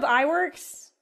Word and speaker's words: Iwerks: Oh, Iwerks.